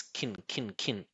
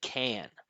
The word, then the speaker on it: can: So we're going to make a reduction and we're just going to pronounce it really short and low, like this: kin, right?